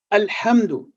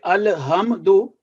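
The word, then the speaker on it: الْحَمْدُ: For example, alhamdu. If we say alhamdu, it would be wrong. We are producing a unnecessary jerking sound on lam sakin and mim sakin.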